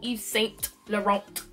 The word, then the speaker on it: Yves Saint Laurent: set the wrong okay so no T no no Yves Saint Laurent okay I know we